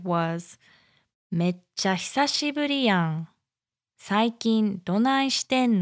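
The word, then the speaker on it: めっちゃ: Mecha. Mecha. Mecha hisashiburi yang. Hisashiburi yang. So the mecha goes up like mecha, mecha.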